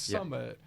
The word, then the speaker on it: SMMT: write this down but the brand is spelled s m t so it's Summit but then it gets